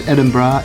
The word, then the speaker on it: Edinburgh: which by the way if you don't know how to pronounce edinb bra it's pronounced edinb bra almost immediately I kind